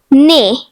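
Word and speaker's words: nez: The next French word is nay which means nose. The silent letter is zed.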